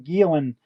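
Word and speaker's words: Gielen: Oh, and fun fact, a friend of mine, Ian Gilan, has put out his first um book today. Um, Gilan is spelled G I E L E N.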